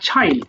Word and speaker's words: child: Mother told ওকে, mother, হ্যাঁ হ্যাঁ, her child আর চিল হবে না, উচ্চারণ হবে হার চাইল্ড, বলো হার চাইল্ড।